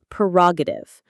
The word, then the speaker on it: prerogative: Perogative. Pre-roative. The stress is on the second syllable. Ra.